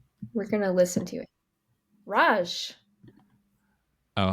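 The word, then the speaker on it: Racz: that what you said yeah it would be Roach I'm gonna look it up because we can CZ is pronounced CH in Polish punchki we're gonna listen to it Raj oh how was wrong she's not polish all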